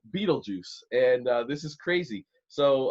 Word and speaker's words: Betelgeuse: 642 light years away, everybody, is another fabulous place called my favorite, Betelgeuse. Betelgeuse. It's not spelled Beetlejuice, but it's pronounced Betelgeuse, and this is crazy.